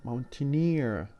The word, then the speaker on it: mountaineer: And also we have double ER, mountain, mountaineer, the stress on the suffix itself rather than the original word.